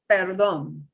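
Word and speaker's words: perdón: an english word is perlon sounds like pardon yep that's what it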